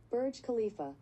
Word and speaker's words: Burj Khalifa: visiting the I'm gonna pronounce this wrong bird Burj Khalifa I'm sure you should have Google tell you let's have Google tell me Burj Khalifa Khalifa you are super clear I was super close yeah Burj Khalifa she continues my sister and I decided to